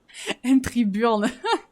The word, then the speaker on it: entry burn: Entry burn, faut le prononcer à l'anglaise, sinon on vous regarde. Entry burn.